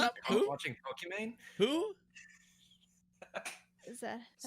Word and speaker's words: Pokimane: watching Pokimane. Who? is that's how Sorry. you pronounce it?